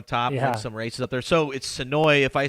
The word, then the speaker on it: Senoia: into me that it's so I want to say SOA or sooya so bad but Ben is like the locals say it's SOI so I'm trying to